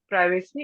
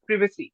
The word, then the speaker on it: privacy: uh privacy that's privacy the pronunciation not privacy it's privacy okay now actually okay my